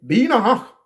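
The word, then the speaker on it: Binah: Et en langue hébraïque, le H, il faut toujours l'appuyer. Binach. Binach. Vous voyez? Binach. B-I-N-A-H. On insiste sur le H.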